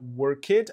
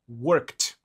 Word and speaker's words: worked: Então, se a gente adicionar o ed, a gente não vai pronunciar worked, a gente vai pronunciar worked.